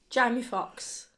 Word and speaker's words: Jamie Foxx: His surname rhymes with Box, and his first name rhymes with Amy. Jamie Foxx.